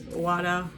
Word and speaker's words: Uada: pulled that out, and this is Uada, I don't know how, Uada is how you say their name, their latest full-length Djinn that came out last year.